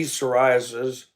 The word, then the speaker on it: psoriasis: Anything spelled with a P that you don't say the P is not good. P pneumonia, P psoriasis. And the one that kills me is when I pull parts, pneumatic tire.